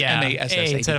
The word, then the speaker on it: Massad: It's M-A-S-S-A-D, but it's pronounced Massad.